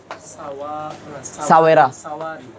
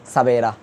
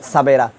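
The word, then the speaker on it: سویرا: Urdu ফার্সিতে ওয়ার উচ্চারণ ভ করে পড়ে। এবার দেখেন, এটা এরকম শব্দ লিখছি না, এই শব্দটা কি কি হইব বলেন তো? সাওয়েরা।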